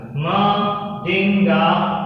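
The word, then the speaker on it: Mdingane: ठीक है बेटा, ये आपको ऐसे प्रोनाउंस करना, देखो ऐसे प्रोनाउंस करना है, माडिंगा ने।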